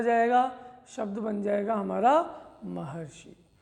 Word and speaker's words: महर्षि: अब महर्षि शब्द का हम उच्चारण कर रहे हैं तो महर अर बोलने में आ रहा है, और अर बोलने में आएगा इसका मतलब इस प्रकार